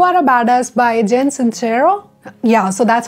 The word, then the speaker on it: Sincero: So the next book on my bookshelf is You Are a Badass by Jen Sincero. Yeah, so that's how the name is pronounced and I was just butchering her name earlier, so I'm extremely sorry for that.